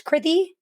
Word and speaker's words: Kriti: In terms of me, my name's Kriti. It rhymes with pithy.